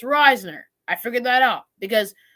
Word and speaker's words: Risner: before we signed Dalton Reisner I'm finally gonna pronounce it Risner okay so guys it's Risner I figured that out